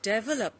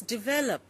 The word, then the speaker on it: develop: for example it is a common mistake in India to say develop because we do not know that the stress comes on the second syllable it should be students develop and uh similarly like